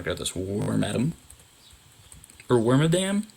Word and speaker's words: Wormadam: this warm atom or wormadam as a kid i always said it was swarmadam like that like i stress the syllables weird but i think it's worm adam warm adam i